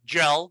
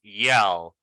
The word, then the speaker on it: yell: And this one is yell. Not gel. Be careful. It's not gel. It's yell.